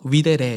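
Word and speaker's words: videre: 미데레 이제 V브자 발음이 이제 W 발음이 돼서 위대레 이렇게 읽기도 합니다. 비데레 비디오 그 비디오의 언이 바로이 여기서 나왔는데요.이 섭리의 원어적 의미를 우리가 지격해 본다면 섭리는 뭐라고 할 수 있을까요?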